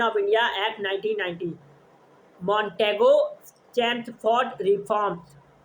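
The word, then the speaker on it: Chelmsford: India act 1990 मॉनटेगो चेम्सफोर्ड reforms भी कहा जाता है। मॉनटेगोस जेम्स एल साइलेंट है।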